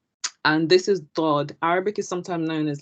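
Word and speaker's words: ضاد: I'm trying to remember how they taught us to say this letter, but it's like Dod, so it's Dod, Dod. Even though it's spelled dad, it's not dad. It's Dod.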